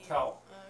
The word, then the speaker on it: tel: it's as I spell tell of course I may be spelling it wrong but I think it's tell it's spelled t-e-l tell and to tell is